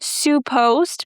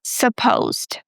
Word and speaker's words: supposed: Some of my French speakers love saying supposed, because in French you have word. I'm afraid to mispronounce it. Something like suppose. I might be wrong, but it's not su, it's sa. Supposed.